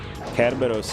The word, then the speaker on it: Kerberos: Kerberos is the like actual name if we're going Greek. Cerberus is the English pronunciation of what's really a Latin name if we wanna, you know, I'm talking English, but it's Cerberus.